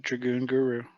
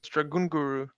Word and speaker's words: Dragun Guru: You mispronounced your deck name, by the way. I said Dragoon Guru. No, it's Dragun Guru. Like Oranguru, Dragoon like Guru.